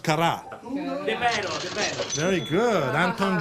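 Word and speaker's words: Carrà: And it's pronounced Cara.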